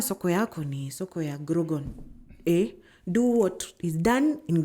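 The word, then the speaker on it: Grogan: Grogon, am I even saying it correctly?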